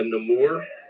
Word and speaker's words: Namor: Hey, Papa Smitty, is that like a Namur? I say it like that because that's how they kind of said it in the movie. But No like, more. Black Panther 2, or like the Namor, like, because my name is Namur.